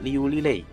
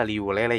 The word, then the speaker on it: Liu Lilei: Yang pertama ada Liu Lilei. Kalau di video kemarin kan saya ini nyebutnya Liu Lele ya.